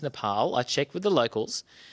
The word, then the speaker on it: Nepal: And yes, it is pronounced Nepal.